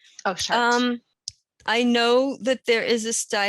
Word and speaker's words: Chartres: 6 round areas at the center of the Chartres labyrinth in France. I hope I pronounced that right. Oh yeah, Chartres. Oh, Chartres.